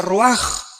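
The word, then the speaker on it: רוח: con r de Raúl a c h se pronuncia roag por ejemplo cuando hablamos del Espíritu Santo El Espíritu Santo es roag el kadosh el espíritu santo Cabos es Santo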